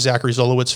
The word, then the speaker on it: Zachary Zolowicz: So my name is Zachary Zolowicz, for anybody trying to pronounce my name.